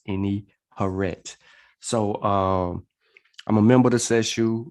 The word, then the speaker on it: Ini-Herit: you know what i mean if you can't pronounce it but it's any horret so um i'm a member of this issue